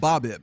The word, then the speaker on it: BABIP: Because I've always heard it called BABIP with the emphasis on the first.